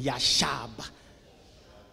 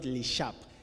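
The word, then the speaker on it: ישב: say with me yashab say it again yashab not leab yashab M no Daniel not yashab yashab say it yashab mm that's the with I'm a bit of a Hebrew so you have to pronounce it properly all right the word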